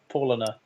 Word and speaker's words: Paulaner: night it's for Lana Paulaner but whatever anyway I've got that the next well you can just remember Paul Anna then you can produce